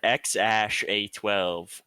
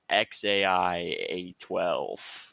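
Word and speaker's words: X Æ A-12: But then the AE combination is pronounced either I or AI. Okay. So it's either X Ash A12 or XAI A12.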